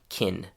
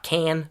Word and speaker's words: can: The real life pronunciation of can is more like kin. Not can, but kin.